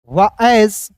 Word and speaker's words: as: HELLO hello, रैन, एज, FAST फास्ट, एज ही, एस को एस नहीं पढ़िएगा, इस एस को एज पढ़ते हैं, ठीक है। यहाँ पे ए का उच्चारण दोस्तों आय के रूप में होगा, एस का उच्चारण आपको जो है शुरुआत से यहाँ पे बता ही रहा हूं कि एस का उच्चारण दोस्तों यहाँ पे जो है ना आपको ज के रूप में करना है। तो यहाँ आप देखिए रैन